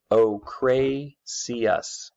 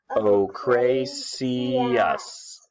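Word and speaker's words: ochraceus: are one color or the other okay the pronunciation for this is PI's aster Oh Cray see us say it with me Rory heís aster Oh Cray see us Oh Cray see us okay these were really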